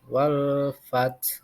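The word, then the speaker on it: وَالْفَتْح: Jadi di sana juga ada huruf fa, dibaca F bukan P ya, wal fath.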